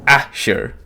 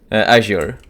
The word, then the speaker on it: Azure: Uh ashure azure. I mean many pronunciations for it would be correct.